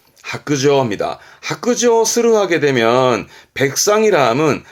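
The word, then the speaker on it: 白状: 그래서 발음은 하크저입니다.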